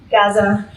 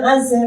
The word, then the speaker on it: Gaza: Specifically, I want to accompany and witness to this, so I'm going to always pronounce this this, so just like Gaza is pronounced in Arabic Gaza, and I can't help myself, so just, you'll have to just get me to hear it that way.